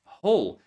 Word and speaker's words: hole: So many students mispronounce and they say something like whole or whole or whatever, but it's hole. Just like the word in black hole. Whole, right? The same pronunciation, hole.